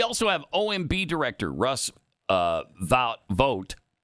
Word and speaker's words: Vought: We also have OMB director Russ Vought. I always hear it pronounced either way, Vought or Vote. I've always thought vote. Vote? I don't know. Yeah, I think it's vote too.